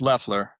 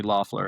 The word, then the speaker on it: Loeffler: It's It's Leler. Leler. Okay. It's spelled Laughler. So, everyone calls me Laughler and I don't I don't get offended at all.